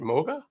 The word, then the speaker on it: Moga: Is that how, I forgot to ask you, is that actually how, is that the right way to say it? Moga? Yes, that's my name.